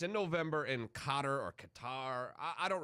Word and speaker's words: Qatar: have this guy so somebody says stop saying cutter it's guitar like qatar repeat guitar somebody else who also wrote to us she says why do you keep calling it cotter so these comments sparked